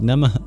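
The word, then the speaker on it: namaḥ: We got and if you want some pronunciation pointers just remember that the O a these are all long vowels literally in terms of duration and at the end of nama there's an h with a dot under it or the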